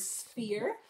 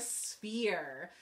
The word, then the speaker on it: sphere: on your phonics book it's the pH and it sounds like an F and this is called the sphere so today you're going